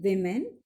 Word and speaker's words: women: WOMEN, women. And the pronunciation for these two words are singular one is woman and the plural one is a women.